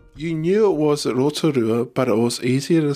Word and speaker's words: Rotorua: mates would call it Rotorua complete with badly pronounced vowels it's kind of ironic